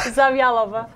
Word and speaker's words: Zavjalova: Tell us how you pronounce it, because Mark's had a hard time. It's not that difficult. One more time? Zavjalova.